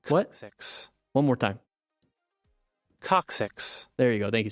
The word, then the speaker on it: coccyx: it coccyx coccyx what six one more time coccyx there you go thank you so much you know one more time coccyx okay so here we got the coccyx broken tailbone you don't want to snap this